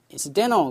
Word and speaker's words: incidental: 그래서 incidental 그렇습니다.